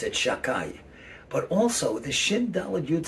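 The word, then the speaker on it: Shaddai: that represents the name shin dala jud we pronounce it shakai but also the shindala youth stands for shaymer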